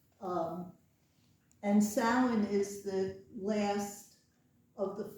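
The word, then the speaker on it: Samhain: it out is because s sounds nothing like it is and this is the gaic or Irish pronunciation of it um and sin is the last of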